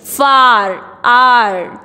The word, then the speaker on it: far: You will now learn to say words in which the R at the last is not pronounced.